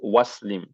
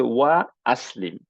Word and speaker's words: wa aslim: Okay, so you can't say waslim. Okay, you have to say wa aslim.